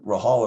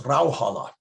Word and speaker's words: Rauhala: Everybody said Rahala. My mother would always correct them. No, it's Rauhala.